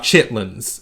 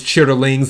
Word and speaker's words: chitterlings: Is the way that is the way it's supposed to be pronounced is chitterlings, and if you look at them, it's spelled out chitterlings, but usually people in the South say chitlins.